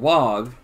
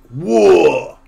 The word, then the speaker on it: orc: So when they're saying wog, it's not wog, it's whoa! Like, whoa!